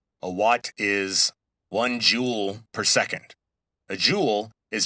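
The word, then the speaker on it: joule: Now, E is measured in jewels. Let me spell that because it sounds like J E W E L S, but it's based on an old scientist's name.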